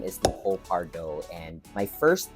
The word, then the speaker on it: Pardaux: it to sound very soci very frenchish it's Paro I know pronounce last name because but is pronounced Paro Paro so Paro all right so it's almost